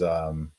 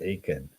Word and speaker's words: Achan: His name is Akan, I think, or sometimes they pronounce it Achan.